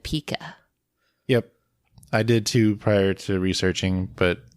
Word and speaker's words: Pika: So yeah, like we mentioned, I'll be pronouncing it Pika, which is spelled Pika. It is pronounced the same as the word Pika, Pica, which is a unit of type size, but also the name